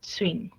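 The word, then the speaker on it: 쉰: que hace que suene como es una sola, como swing, ¿ok? No es ni swing, ni así como un swing fuerte, sino ligeramente como swing, nada más, ya que es solo de una sola sílaba.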